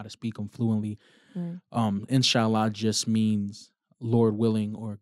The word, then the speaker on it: inshallah: of know how to say it now um inshallah yes i got it right okay um is